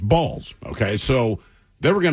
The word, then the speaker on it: Balls: So, his name was Harry Balls. B A Ls, but it is pronounced Balls.